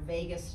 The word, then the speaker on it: vagus: ways actually engages our vagus nerve it's so it's spelled vegas v-a-g-u-s not like las vegas but it means